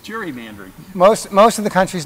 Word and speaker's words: gerrymandering: Those who wish to pronounce it as Eldridge Geary, right? Mm-hmm. Whereas most of the country calls it gerrymandering.